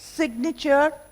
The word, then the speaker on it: signature: Signature, resignation, signal. So, the G is very much pronounced.